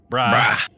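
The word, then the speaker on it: Brigh: Bri, according to Jooff Davis, who constantly lectured me in the early seasons is how you pronounce this name.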